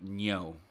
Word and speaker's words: Ngo: listened to enough but i feel like the proper pronunciation is actually andy neo you know oh yeah